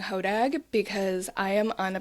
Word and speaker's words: Hodag: And that is, I mean, genuinely, it's pronounced HOD here. Um, I will be saying HODAG because I am on